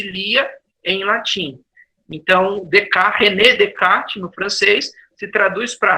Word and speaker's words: Descartes: Se escreve Descartes, né? Mas se lê sem S, Descartes. Porque ele era francês, né?